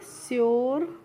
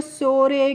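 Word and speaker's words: sure: इसके शोरे क्योरे पूरे लुरे लूरे इस तरीके से नहीं पढ़ना है। कैसे पढ़ना है? श्योर क्योर प्योर ल्योर ड्योर।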